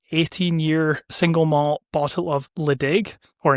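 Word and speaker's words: Ledaig: single malt bottle of Ledig, or in Gaelic, it's pronounced Lechick, from the Isle of Mull.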